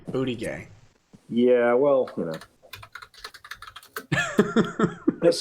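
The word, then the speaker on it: Buttigieg: name that's correct yeah it's the french pronunciation booty gay yeah well you know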